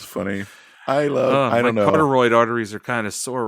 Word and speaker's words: carotid: His carotid. Cartoroid.